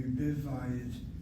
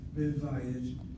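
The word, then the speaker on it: בבית: And the word will be bivayit. Bivayit. Accent is on that patak, short vowel with syllable. Has to be accented.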